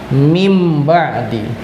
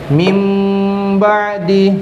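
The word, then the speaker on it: مِنْ بَعْدِ: Maka ketika ada contoh bacaan nun sukun atau tanwin bertemu ba misalnya contohnya min ba'di ya. Ya, tulisannya adalah min ba'di, tapi dibacanya berubah menjadi mim ba'di. Ustaz dulu mim ba'di.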